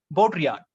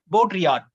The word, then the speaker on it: Baudrillard: l a or d it's a french name that two l both are silent here baudrillard so jean baudrillard jean baudrillard was a critic and